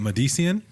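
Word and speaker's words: MDCN: Add yourselves to the long list of people who have botched my name. Phonetically, it's M-D-C-N.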